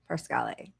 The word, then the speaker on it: Parscale: Parscale. See, I do care how people pronounce their names, even fascist genocidal maniacs.